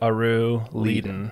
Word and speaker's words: Aruliden: So I always pronounce it Aru Leiden. Right. But you get a lot of combos in there. Depends on who it is, where they're from, how they feel that day.